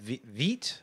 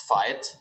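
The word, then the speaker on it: Veit: It's actually pronounced fight, like the English word fight.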